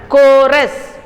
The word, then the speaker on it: chorus: Then next one, chorus. There also it is K sound.